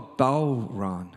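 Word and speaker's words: bodhrán: this is called close you don't pronounce the hard D it's actually a tractor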